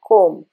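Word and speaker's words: comb: India में कोम भी बोलते हैं, ब भी बोलते हैं, लेकिन इन इंग्लिश प्रोनंसिएशन इसमें ब का साउंड नहीं आता है. कोम म पे साइलेंट, म के बाद ब इज बी इज साइलेंट.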